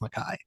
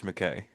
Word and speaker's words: George MacKay: It's so weird how you're saying George McKay. No, it's Mackay. That's how it's Is it?